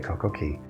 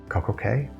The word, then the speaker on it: CocoCay: our perfect day at CocoCay. Perfect day at CocoCay? If you know exactly how Royal Caribbean pronounces it, C-A-Y is pronounced key everywhere else, but it doesn't rhyme with perfect day.